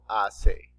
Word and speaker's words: hace: Remember, the letter H here is silent. Okay. ¿Qué tiempo hace?